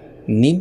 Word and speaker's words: neem: Nim, que se escribe Nem con doble E.